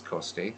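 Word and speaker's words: Coste: Shane Victorino uh Chris costay if you say it in Italian it's Coast State so um and Pedro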